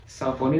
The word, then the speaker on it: Saucony: Saucony dibacanya Saucony.